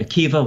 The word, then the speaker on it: Akiva: are familiar with Rabbi Akiva once again spelled with a BA at the end but pronounced with a V and the goal of